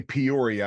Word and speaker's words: Peoria: We say Peoria, I guess, because we're from out of town and we don't know any better. But is it Peoria or something like that? You said it right.